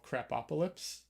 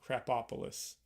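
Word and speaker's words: Krapopolis: show on Fox called crap opaly crap opis uh sorry I got the pronunciation wrong crap opolis um on Fox right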